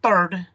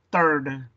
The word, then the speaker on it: third: Si tú estás impuesto a decir third y lo pronuncias como si fuera una T, third, y como que la H no existe, porque en español la H es muda, pues tú tienes que practicar.